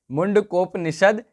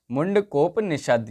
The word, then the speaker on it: मुंडकोपनिषद: गलती हो रही है मुंडकोपनिषद यह हमारा सही उच्चारण होगा इसका मुंडकोपनिषद यह हमारा सही उच्चारण